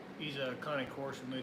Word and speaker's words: Cane Corso: No, it's a Connie Corso.